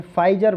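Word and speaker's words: Pfizer: अब देखिए, यूके ने अभी हाल ही में फाइजर वैक्सीन, कोरोना की पी साइलेंट है, पी फाइजर वैक्सीन को लगाने की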